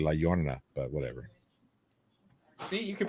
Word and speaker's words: La Llorona: The 2019 horror movie called The Curse of La Lorna. It's actually La Llorona, but whatever.